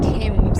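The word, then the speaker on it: Thames: So with our expectations super high, we went out on our boat, we're out fishing again in the f of temps as it's pronounced apparently.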